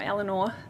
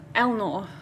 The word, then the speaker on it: Eleanor: or Eleanor, or if you're Matt, pronounced Elnor. He missed the vowel. He missed a vowel.